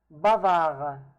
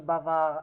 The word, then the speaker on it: bavard: Bavard. The D is not pronounced in case if it's masculine.